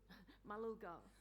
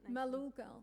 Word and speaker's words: Malulgal: Malulgal. Malulgal, thank you, the Malulgal Nation.